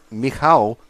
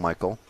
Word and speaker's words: Michał: If we drop back 1 car to the Polish driver of Michał Orlowski, is how you're meant to pronounce his name in proper Polish, but we call him Michael, or most people call him Michael.